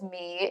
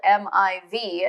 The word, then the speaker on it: Miv: is, for example, Mi, which they pronounced as me in the audiobook, is spelled M-I-V. And I think if I, were to try and pronounce that without the audiobook, I probably would have said Miv or Meev. And so it was kind of nice to get the correct pronunciation in this case.